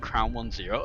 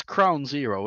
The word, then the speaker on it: CrownZero: Do you know I keep pronouncing it crown one zero as though I'm as though I'm casting damn one gear and I'm thinking it might be a problem. It's crown zero, isn't it?